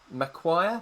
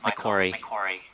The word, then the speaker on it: Macquarie: pronounce the next word, Macquarie Business School. Have I said that correctly? Almost, Michael. Macquarie. Macquarie, okay.